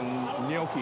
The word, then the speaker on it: gnocchi: I want the gnocchi. How do you say it? Gnocchi? Ganachi.